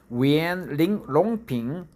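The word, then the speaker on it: Yuan Longping: Yuan, longpin, right? Longpin, Yongpyeong in Korean. One Yongpyeong, right? We pronounce it one Yongpyeong, but Chinese pronounce it Yuan longpin.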